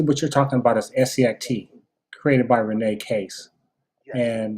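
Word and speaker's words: Essiac: patients and so scit is spelled e-s-s-a-i-c okay e-s-s-i-a-c so it's renee case's last name spelled backwards and so this is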